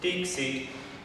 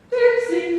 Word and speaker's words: Dixit: Dixit, Dixit.